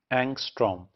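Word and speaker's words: Ångström: So this is pronounced as एंगस्ट्रॉम।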